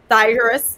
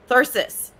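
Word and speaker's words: thyrsus: beautiful and blessed uh thyrus uh virus sorry no no i wanted to say it right thirsus who took up the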